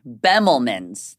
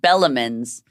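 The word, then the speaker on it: Bemelmans: a show um at I always say it wrong. Bemlman's there's a joke going around so hard because I was calling it Bellamman's.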